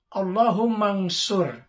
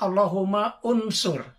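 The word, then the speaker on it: اللهم انصر: Allahumma nsur. Nah, jadi langsung nun mati, ya. Allahumma nsur. Jadi bukan Allahumma unsur.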